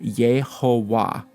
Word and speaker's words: Yehovah: Okay, and you've seen the tetragrammaton Yod He Vav He, so we pronounce that Yehovah.